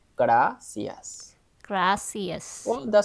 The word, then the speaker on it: gracias: Ooh, that's hard for you, I know, because we the way we pronounce the R is different, and I know that most of Asian speakers they struggle with the R pronunciation, and yeah, it's hard.